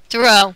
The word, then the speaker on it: Thoru: How do you say him? Throw? Through? Throw. Throw.